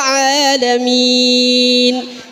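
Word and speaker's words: العالمين: Alhamdulillahi Rabbil Alamin. Itu ain, hati-hati. Kalau kita bacanya hamzah artinya salah. Kalau kita bacanya betul artinya segala puji bagi Allah Tuhan semesta.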